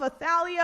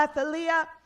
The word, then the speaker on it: Athaliah: Okay, so it introduces us first to this woman by the name of Athaliah or Athaliah, depending on how you want to pronounce it.